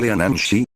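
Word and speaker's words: Leanan Sídhe: La leanide, que se pronuncia lean shi, es considerada unada de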